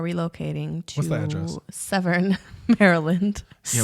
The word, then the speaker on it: Severn: Severn, Maryland. Yeah, Severin? Severn. Spell it?